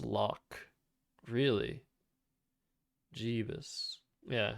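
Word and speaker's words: lough: burg i guess b-u-r-g-h how do you pronounce l-o-u-g-h i have no idea oh that's pronounced lock really jeebus yeah it's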